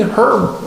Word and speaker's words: herb: cool one the beginning herb herb class yeah and uh H is silent herb herb and that's 6 p.m.